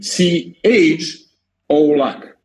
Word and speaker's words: Colak: I'm not mad okay so the the repr pronunciation of your last name is cholak yeah exactly exactly and I was